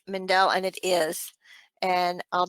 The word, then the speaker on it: Mendel: I think it's Mendel.